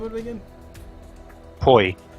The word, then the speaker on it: poi: Poi. P-O-I is how you spell it, and pronounced like boy, I guess.